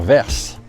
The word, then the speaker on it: Vers: Ce matin, on quitte notre petit joli hôtel à Labastide-Murat pour se diriger vers Vers. Ici, dans le sud de la France, ils prononcent le S, parce que Vers, ça s'écrit V-E-R-S.